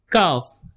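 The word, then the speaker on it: ک: Cuff like cuff with K by stretching little more cuff cuff I know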